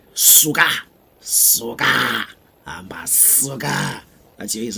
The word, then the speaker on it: suka: su ke a way easy to pronounce suka it's like sugar but with a key suka suka suka as it